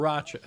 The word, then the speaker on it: Sriracha: lot in Rochester is Sri Racha, and which is SRI, but people pronounce it as if it's SIR, and that needs to be Sriracha, straightened out as soon as possible. Sriracha.